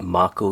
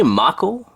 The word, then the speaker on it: Mako: It's actually pronounced both. You can say both versions. In the eastern parts of the world, Mako is the preferred